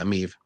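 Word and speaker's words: Emeev: a little bit of his grappling defense against emiv or yeah I'm Eve right is that how you say it yeah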